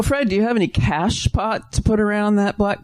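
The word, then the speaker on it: cachepot: The cash pot. It's spelled C A C H E. I guess it's French. Sounds like it.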